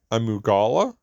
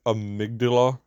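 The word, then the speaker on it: Amygdala: up next we have I think it's pronounced Amala I think how pronounce it is how they pronounce in the game but I know TCH pronounced a migdala that just pronounce it different ly within the game for some odd reason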